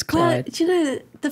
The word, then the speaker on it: Chluaid: But it's Chluaid, and it's pronounced Chluaid. No, it's pronounced Clyde. Pretty much everybody who sees it without knowing how it's pronounced, unless they're Scottish and they know a little bit of Gaelic. They'll just say Chluaid, but it's Clyde.